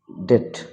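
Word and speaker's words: debt: মানে বৃদ্ধাঙ্গুল বোম মানে বোমা লিম মানে অঙ্গ-প্রত্যঙ্গ ডেট মানে দেনা ডাউট মানে সন্দেহ তো এই শব্দগুলোতে বি উচ্চারিত হবে না বি সাইলেন্ট থেকে যাবে তো সেগুলি মনে রাখাটা খুব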